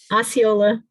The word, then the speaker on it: Osceola: said colt i don't even know how to pronounce that county carlin help me out osceola there you go so the median sales price there is up 32 year-over-year it's up to 368 000.